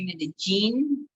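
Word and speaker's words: Medellín: I said Medellin. I said it wrong. I'm sorry. No, I think it's the 2 L's. It gets everybody. Medellin. So like the double L is like, we kind of say Medellin.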